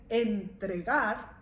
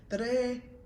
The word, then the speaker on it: entregar: And instead of saying entregar, because that's how you spell it, you say tre. So the en gets silenced.